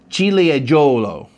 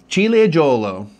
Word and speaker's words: Ciliegiolo: He has some videos of Italian wine pronunciations. Ciliegiolo. Ciliegiolo, okay?